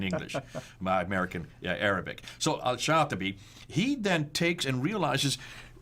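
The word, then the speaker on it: al-Shafi'i: with my american english american yeah arabic so al-shafi he then takes and realizes that there were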